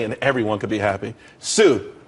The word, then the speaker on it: TSU: Sue, TSU, it's pronounced Sue though.